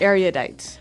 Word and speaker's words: erudite: Erudite. Okay, so this word erudite, some people pronounce it erudite.